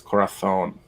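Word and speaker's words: corazón: bad day my uh my castilian only goes as far as corathon it's when i pronounce a a z as a th yeah i will call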